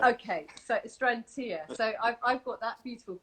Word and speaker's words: Astrantia: A lot of people all have different ways of pronouncing them. I just tend to go to it with Astrantia. Okay, so Astrantia.